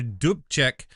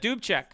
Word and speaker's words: Dubček: I mean, this is a communist country named Alexander Dubček. Never know if I'm saying that That's right. correct. But Dubček.